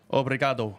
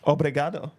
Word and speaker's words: Obrigado: Obrigado. Obrigado.